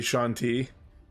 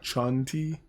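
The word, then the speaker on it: Chauntea: pronounce that name c-h-a-u-n-t-e-a I would say Shaun T yeah Shanti his allies include Gand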